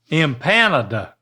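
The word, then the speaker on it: empanada: imp imp well that's there's only one M that second you're making an M sound but imp panada there you go imp panada it's not pan though the N goes with the next part so it's just imp and the emphasis on the naada NADA you're getting close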